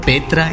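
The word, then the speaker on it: Petra: वर्तमान जॉर्डन के अमान प्रांत में स्थित प्राचीन और पुरातात्विक शहर पेट्रा, जिसे अरबी उच्चारण में पेत्रा या अलबत्रा कहा जाता है, यह दुनिया के चुनिंदा प्राचीन शहरों में से एक है।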